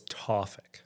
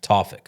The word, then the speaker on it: Tawfik: So it's Tawfik. Tawfik.